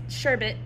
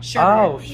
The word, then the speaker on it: sherbet: That's sherbet. Sherbet? Sherbet. What is sherbet? Oh, it's sherbet. Sherbert. My family says sherbet. Sherbert. Yeah, but have you ever realized that it's spelled sherbet? Yeah.